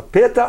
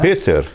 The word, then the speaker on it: Peter: Uma das perguntas que fica lá mesmo, o ER, o pessoal fala Peta ou Peter, né? O tradicional seria Peter, né? Peter. Com R pronunciado.